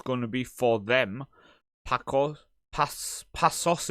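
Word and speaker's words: Paços: Pasos, isn't it? Because the C with the S. So it's Pasos de Ferreira.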